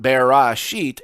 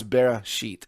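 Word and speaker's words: בראשית: and funny isn't enough when it shows up in the middle of the word it's not actually sounded it's not barra sheet it's bara sheet if it's properly pronounced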